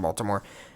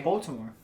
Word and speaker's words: Baltimore: the Ravens from Baltimore say it right Baltimore kiss my ass that's where they're from yeah anyway replace the T with the D dude I have a